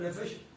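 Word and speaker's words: נֶפֶשׁ: Nefesh, ¿cómo se escribe nefesh? N-E-P-H-E-S-H. de nuevo. N-E-P-H-E-S-H. Nefesh. Se pronuncia Nefesh. Como si PH fuera una F.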